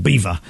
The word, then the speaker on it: Belvoir: It's from it's spelled Belvoir but it's pronounced beaver. Uh and yeah, as in beautiful view, but it's just I've always called it Belvoir.